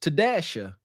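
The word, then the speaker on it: T-A: you know, um, supposedly some woman named her child T dash A and it's pronounced Tasha cuz the dash ain't silent.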